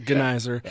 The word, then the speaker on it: Gneiser: that's the second that's the worst the best mispronunciation I should say and yeah that's I I initially it but gizer um you're the host and organizer of creative